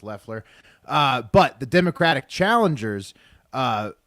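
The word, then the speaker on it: Loeffler: by kelly kelly lefler waffler lefler spelled loffler pronounced lefler but the democratic challengers uh have both raised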